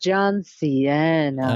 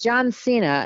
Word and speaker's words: John Cena: John Cena, because I always want to say, because his name feels Spanish, or it feels like it should be it feels like it should be pronounced John Cena. Ah, yeah, but it's John Cena, and so we're in